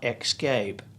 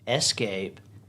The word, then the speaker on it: escape: it is not especially it is not xscape and is not expresso especially escape espresso x out the x okay now this